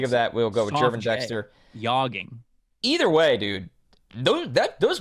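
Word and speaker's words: Gervon Dexter: It is Jervin Dexter, right? I thought it was like a harder G. I thought it was Gervin Dexter.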